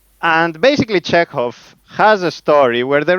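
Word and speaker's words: Chekhov: It's you pronounce it correctly with hov. But everybody pronounces his check off. That's not a problem. Okay. Okay. So, Anton Czechov.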